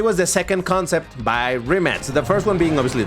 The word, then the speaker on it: Rimac: Because in case you don't know, this car originally was called the Remat C2. And by the way, I'm saying Remat, not Remac, not Ryback. The pronunciation in Croatian, it's Remat.